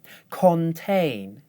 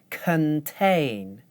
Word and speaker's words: contain: When I do it the right way, I use the schwa. Contain, contain.